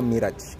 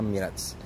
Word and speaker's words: Mirage: review Hai Mitsubishi Mirage kalau orang sini ngomongnya mirip sepatunya bacanya Mi'raj kalau di Jepang sana Mi'raj mobil ini di Jepang